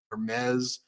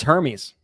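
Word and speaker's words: Hermès: I I think it's I think it's Hermes I thought it was Hermes I don't think you pronounced the h okay well anyway so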